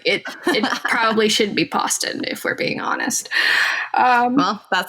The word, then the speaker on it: Poston: All right, so you can follow me at Poston on Twitter. It's Poston. I know it looks like it should be like pronounced Poston, but it's not.